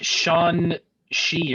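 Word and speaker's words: Shang-Chi: did kevin pronounce that he pronounced it way different uh than we've been saying in shangchi oh he said it like sean she or something like that yeah he's like he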